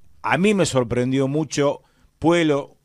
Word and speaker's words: Puelo: A mí me sorprendió mucho Puelo, yo lo llamo Puelo, dicen Puello, pero ahí para mí Puelo, la doble L se pronuncia como L.